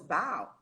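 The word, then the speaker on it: bough: i spoke up i said no it's not bo it's bow and the whole class turned to me i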